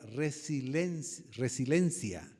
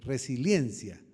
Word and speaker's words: resiliencia: la frase la palabra resilencia resilencia es correcto la palabra resilencia él es el autor de esa palabra Y qué Qué significa la palabra resiliencia Esa es la pronunciación correcta resiliencia es la capacidad dice